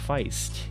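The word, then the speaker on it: Faist: how to pronounce Mike Feist it's spiced instead of faced like waste so learns that because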